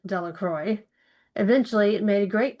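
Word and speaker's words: Delacroix: Bobby and Harry Jones and Dicky Delroy, the villager pronounced this name Delroy.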